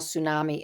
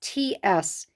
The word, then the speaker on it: Tsunami: And here's how you spell tsunami. It's Tsunami. The T is silent.